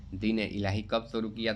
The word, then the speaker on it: दीन-ए-इलाही: दीन-ए-इलाही कब शुरू किया था? दीन-ए इलाही। ठीक है? ये सही है उच्चारण।